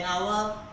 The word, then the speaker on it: hour: It is because that the pronunciation of hash in the word of hours, the pronunciation of hash is silence, right?